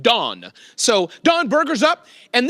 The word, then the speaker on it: Dan: His name is pronounced Don.